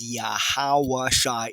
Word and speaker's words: Yahawah: highest the most high his true real name pronoun phonetically pronouncing it correctly righteously sounding it out in the first former dialect of the true ancient Hebrew resect of the two2 tribe chart is yahawah in the Holy tongue